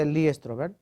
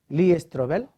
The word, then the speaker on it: Lee Strobel: cambio en ellos han leído algún libro de eli stroger he pronunciado bien lee strobel creo que hay fuera de tiene algunos libros